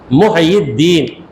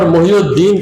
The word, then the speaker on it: محی الدین: محی الدین یہ ہے صحیح تلفظ، مگر ہم یہاں پر محی الدین کہہ دیں، اصل میں ہے محیی کا معنی زندہ کرنے والا.